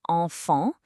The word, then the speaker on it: enfant: Enfant is enfant. That's got 2 nasal sounds and 2 silent consonants.